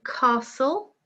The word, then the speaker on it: castle: Number 2, castle, silent T.